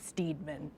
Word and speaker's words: Steadman: seven or go to Steadman SLP L that organ Steadman is spelled like Steedman yeah but uh so